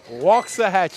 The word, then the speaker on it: Waxahachie: Waxahachie. Waxahachie. It's spelled wax, but we say walks.